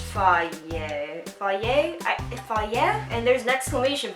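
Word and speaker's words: Fage: It says it's pronounced fier fier.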